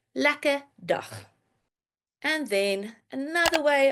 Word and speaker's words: lekker: Or you can say lekker dag, meaning have a good day. Lekker dag. But, very important, Afrikaans speakers, they like to not pronounce the R in the word lekker.